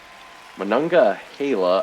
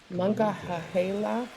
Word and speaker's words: Monongahela: Monongahela, I believe, is what it is, after the Monongahela River, which is one of the rivers in Pittsburgh there.